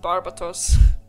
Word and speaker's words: Barbatos: Here I am, still thinking it's pronounced Barbatos.